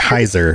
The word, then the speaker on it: Caesar: that um and they they all call him kaiser too so it's they pronounce it yeah okay yeah every time i read it i say caesar's legion but like yeah like